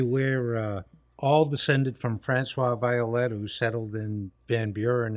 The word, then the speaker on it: Violette: Today's guest is Violette.